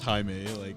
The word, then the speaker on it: Jaime: George, it's Jaime.